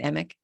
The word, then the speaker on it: Emick: So, and am I pronouncing your last name right? Emick? Yes, that's correct.